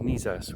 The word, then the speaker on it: Nizas: Today, we are in the very pretty little village of Niz as, which is spelled n